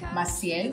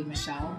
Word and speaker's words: Maciel: It is Maciel, pronounced in Spanish. In English, if someone asks me, I just say Michelle.